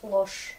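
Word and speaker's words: ложь: Par exemple, regardez le mot loge, mais je prononce loche, c'est la mensonge en russe.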